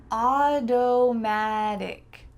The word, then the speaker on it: automatic: Automatic, automatic. This word has two T's that change to D's. Auto, auto, magic, magic. Don't be afraid to use a really clear D sound here.